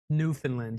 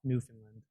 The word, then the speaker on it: Newfoundland: New Finland. Yes, my pronunciation was off. Newfoundland.